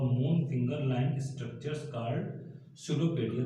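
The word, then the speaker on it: pseudopodia: Finger line structures called सुडोपेडिया। देखिए यहाँ पे लिखा है पी, शुरुआत हो रही है पी से, बट पी साइलेंट रहता है, इसको पढ़ते नहीं है, इसको पढ़ते क्या है? सुडोपोडिया और फॉल्स फीट।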